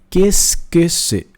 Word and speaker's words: qu'est-ce que c'est: Então, você vai ver que é muita letra para pouca pronúncia.